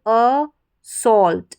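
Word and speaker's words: assault: Last में देखिए AULT, इसको ऑल्ट पढ़ेंगे, AULT को ऑल्ट। तो पूरी स्पेलिंग देखें, ए दे रखा है शुरू में, इसको अ पढ़ा, डबल एस को स पढ़ते हैं, साथ ही में पढ़ेंगे स, और फिर ऑल्ट। तो पूरी स्पेलिंग अ सॉल्ट, इस तरीके से प्रोनाउंस करेंगे, अ सॉल्ट, असॉल्ट।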